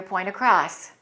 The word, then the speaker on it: point across: point is getting your point across we didn't pronounce the T right because we connect it and the next word begins with a vowel sound but before the T